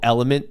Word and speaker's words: LMNT: mix is uh the it's called element that's how it's pronounced but The Branding is lmnt it's a sugarfree electrolyte